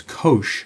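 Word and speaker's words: cosh: Secondly, cosine hyperbolic abbreviated or or listed as co o sometimes pronounced informally as kosh of x is a fraction whose numerator is e to x plus e to the negx all over two.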